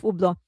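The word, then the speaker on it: Hublot: They said that in French you're not supposed to pronounce the H and the T. So Ublo. Okay. So he's now the new brand ambassador of Ublo.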